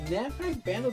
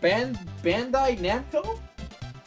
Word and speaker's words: Bandai Namco: And Namco Bando doesn't really have... I have been pronouncing their name wrong this entire time. That's great. I love that. Bando Namkai Bando, Bandai Namco? Bandai Namco?